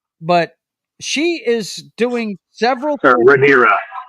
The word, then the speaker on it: Rhaenyra: So this episode, is it Raina? Is that her name? Our blonde girl over here, is that her name? Yeah, it's Raina. Yeah, but she is doing several. Rhaenyra, right?